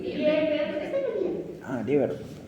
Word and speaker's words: Lieberkühn: Lieberkühn. Lieber, está bien. Ah, Lieberkühn. Lieber, como el lieber en inglés, Lieber, K-U-H-N.